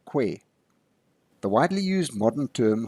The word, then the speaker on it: Khoi: The Khoi, to be accurate, being generally mispronounced as Khoi instead of Twe or Kwe.